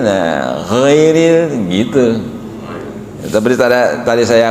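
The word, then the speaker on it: غير: Ee seperti tadi koreksi waktu kita alfatihah bukan ghairil magdub menjadi bukan ghairil kan jadi dua harakat tapi ghairil. Nah ghairil gitu.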